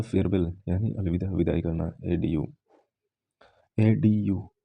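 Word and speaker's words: adieu: एडीयू का मतलब होता है फेयरवेल, यानी अलविदा, विदाई करना, एडीयू। एडीयू, डी आई ई, ए डी यू, डी यू का प्रोनाउंसिएशन देखो, ड्यू आ रहा है ना, ड्यू, माउंटेन ड्यू एक कोल्ड ड्रिंक होता है।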